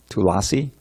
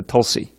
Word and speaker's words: tulasi: short a Vaishnav and tulasi - Lucy it's all short tulasi and that's why often will be shortened to Tulsi because I dropped that